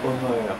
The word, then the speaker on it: Homer: s'appelle Winslow Homer, et ce nom de Homer sans E et sans accent, donc je le prononce à l'américaine, m'a fasciné.